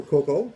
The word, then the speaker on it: cocoa: So, cacao or cocoa, depending how you pronounce it. Actually, it's cocoa. I think that's a snobby thing I see online. I don't know why I started calling it cacao. It's cocoa. It's cacao in French.